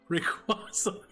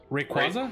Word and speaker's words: Rayquaza: Rayquaza.